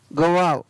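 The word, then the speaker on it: guava: तो यहाँ पर जी यू के बाद में क्या है? ए आया है, स्वर है, लेकिन इसका उच्चारण है वो व हो रहा है।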